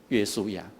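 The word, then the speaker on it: 约书亚: 因为耶稣这一个字是希腊文，它的亚兰文的发音就是约书亚所以他们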